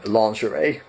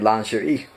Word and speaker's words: lingerie: And that word is, in American pronunciation, lingerie. That is nowhere near how it's pronounced in French. It's actually more like lingerie.